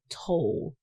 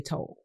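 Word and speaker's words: Tolle: If in Spanish toy double L T O L L E, but we're just going to think he's English. We're going We going to say he's English.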